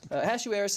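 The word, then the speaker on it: Ahasuerus: of this King as a hashu Eris is usually how it's I was wondering how you pronounce that Ashu Harris is usually how you pronounce it in most English Bibles in Hebrew it's but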